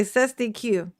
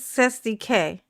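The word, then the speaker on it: cestui que: He would say cestyq. It's cestk. That's the pronounce how you pronounce it is cestk.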